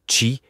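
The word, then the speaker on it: qi: de la MTC est celui de qui prononcé chi qui peut être traduit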